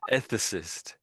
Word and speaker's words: ethicist: Ethicist. For some reason, they've given us the American the American pronunciation.